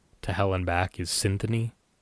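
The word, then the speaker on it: Cynthoni: hell and back is Symphony is spelled C Y N T H O N I. Symphony. Uh, it's a play on word of uh symphony and the word oni as well.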